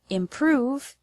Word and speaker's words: improve: The word improve has the stress on the second syllable, prove.